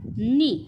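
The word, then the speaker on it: knee: तो काय आहे बघा नी बघा पुन्हा सुरुवात कशापासून झाली के पासून पण जो काही त्याचा प्रोनन्सिएशन म्हणजे उच्चार आहे तो काय होतो बघा नी नी म्हणजे काय विद्यार्थी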